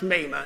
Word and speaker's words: Mamah: Europe in the company with a lady called Mamah Cheney. Mamah Bothwick Cheney. Bothwick was her maiden name and Cheney was her married name. And it's pronounced Mamah, M-A-M-A-H.